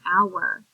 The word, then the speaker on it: hour: There are 2 sounds in hour. Ow, er. I like hour. Class is awesome. So in this word hour, the heart part is that O and U together. They're making the ow sound, like whenever you get a boo girl.